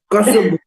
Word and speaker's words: Kosovo: Kosovo. That is the right pronunciation of Kosovo.